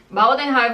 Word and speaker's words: Baldenheim: Baldenheim, vou deixar escrito aqui, porque se pronuncia em alemão, né?